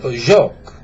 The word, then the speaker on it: Jacques: Is Jacques. No, I would start over with his name. Oh, yes. Okay. Yeah. This. No, not this. Say Jacques. Jacques.